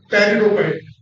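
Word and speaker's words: Pteridophyte: के प्लांट जो है इसमें है पेरिडोफाइट इसमें पी साइलेंट है इसकी भी कोई हिंदी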